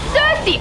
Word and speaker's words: Circe: And I looked it up and it's Cersei.